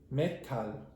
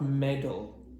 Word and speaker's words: medal: So even there, the expression medal, if you listen back, the last, because it has 2 syllables and the first syllable will end with a d, you'll hear, because he wasn't careful enough, you'll hear Jesus going metal, not medal.